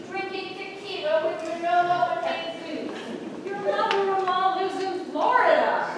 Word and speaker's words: Jesus: Manolo and Jesus. You don't pronounce the J.